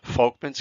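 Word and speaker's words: Volkmann: these things called Folkman's that's actually pronounced an F it's German Folkman's canals or perforating canals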